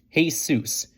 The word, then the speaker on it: Jesus: what's this kid's name Joey hesitated hey seus G H Larry quip seriously his name is what what I told you JY seus it's spelled j s u s his name is Jesus Larry said doubling over